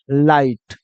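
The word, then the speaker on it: light: क्या बन जाएगा लाई और जी एच में जी एच साइलेंट हो जाएगा खाली टी का उच्चारण लेंगे तो क्या बन जाता है लाइट वैसे ही देखो आर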